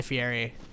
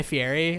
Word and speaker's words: Fieri: guy fieri apparently his whole thing is that his name is actually pronounced like fairy like that's how it's actually supposed to be pronounced but he's made such